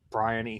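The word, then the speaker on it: BRION: a bow on this brian esports challengers bryony sports challengers b.o.o oh okay there's a team named brian and i wasn't watching the lck geez man yeah it's just they spell it with an o b r i o n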